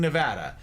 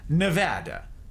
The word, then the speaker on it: Nevada: But Americans can't keep mispronouncing Nevada. It's Nevada, not Nevada. In fact, you get run out of this state by calling it Nevada.